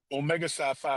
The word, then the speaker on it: Omega Psi Phi: How How do you pronounce it so I don't say anything disrespectful? Omega Sci Phi Fraternity Incorporated, sir.